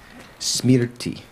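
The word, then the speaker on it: smṛti: have it spelled right if you were to write it in sanskrit in um roman characters you would write it s m r and the r has a dot under it it's a semi vowel t i smeared t that r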